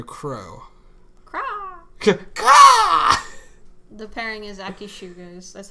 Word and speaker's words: ShuAke: The pairing is Akishu, guys. That's how you pronounce it.